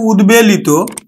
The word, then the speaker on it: উদ্বেলিত: গঠিত শব্দ যেমন দেখো আমরা উচ্চারণ করি কিন্তু উৎ বেগ উদ্বেগ আবার দেখো উদ্বেলিত উদ্বে লিত উদ্বেলিত তাহলে উৎ উপসর্গযোগে গঠিত শব্দ ব ফালার উচ্চারণ বজায় থাকবে অর্থাৎ ব ফালার উচ্চারণ